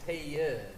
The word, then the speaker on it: Ted: 'Cause my mom says it with 2 syllables. It's Ted, not Ted.